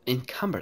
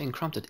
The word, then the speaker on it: encumbered: Oh, I'm encumbered. I always say encrumpted. Encumbered.